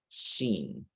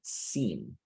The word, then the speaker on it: seen: For example, the word seen, you say sheen, besh, okay? So it's supposed to be seen, best.